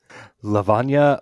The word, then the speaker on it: Lavanya: So, Josh, after you, Lavana Lakshmaran. Yes, nailed it. That's my audiobook person pronounced it.